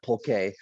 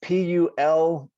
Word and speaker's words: pulque: it wrong too but i'm assuming my spanish that it's that is pulque it might even be pulque yeah like a little little u so essentially they were